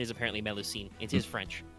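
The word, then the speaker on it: Mélusine: them no signer I double checked the preferred pronunciation is apparently melucene it is French milicine okay yeah it's not Greek so that we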